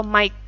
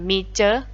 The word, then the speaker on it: Mike: Nah, pengucapannya adalah Mike ya, bukan Miche.